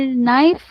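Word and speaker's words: knife: आपकी दूर हो जाएगी कि इसको हम क्यों कनश कनश को नैश क्यों पढ़ते हैं और नाइफ को के क्यों साइलेंट करते हैं।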